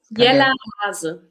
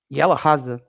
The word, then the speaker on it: Jella Hase: Leonie, can you pronounce her name again, please? Jella Hase. Jella Hase.